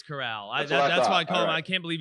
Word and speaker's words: Corral: and uh i can't how do they pronounce it coral or it's corral it's corral that's why i can't